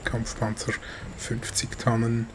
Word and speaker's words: Kampfpanzer 50 Tonnen: back with a replay and kind of a review of my Kampfpanzer 50 Tonnen. That's how you say it in German, or the Kampfpanzer 50T